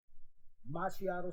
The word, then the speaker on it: Macchiato: Macchiato Studios on IG, just like the drink Macchiato.